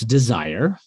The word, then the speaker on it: Dezir: audience yeah i mean so it's spelled d-e-z-i-r but it's desire right yeah you got